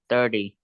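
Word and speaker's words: thirty: And in 30, the stress is on the first syllable.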